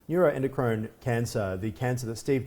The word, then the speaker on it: neuroendocrine: you do it for us please so it's neuroendocrine and yes you're so correct it is very difficult to pronounce and I guess that's probably one of